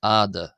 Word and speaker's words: ⲏⲧⲁ: But I believe that historically it makes more sense based off the vows of ancient Egyptian personally to pronounce this as ah and hence why I'm pronouncing this as letter add.